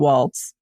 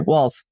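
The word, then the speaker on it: Walz: your position yes uh my my concern about Walts walls sorry walls this is like when when uh Harris was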